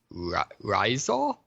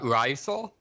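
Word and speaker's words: Rizal: figurehead is uh Jose I think this pronounced like risal uh R risal and uh the funny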